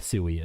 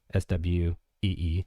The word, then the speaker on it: Sui: Sooie is Sooie uh Sui Sue Ee is kind of how you're supposed to pronounce it.